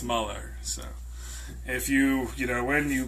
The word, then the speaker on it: Mueller: Mueller, not Mueller. So if you've been saying it in your head and praying for him to do his job, you may have been saying his name wrong.